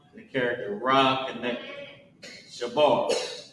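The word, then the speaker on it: שבר: So, Sha character Ba and the character Ra connect Shabar. Right. What's going on with my handwriting today? Shabar. And how you pronounce it is sha and then b a r o shab.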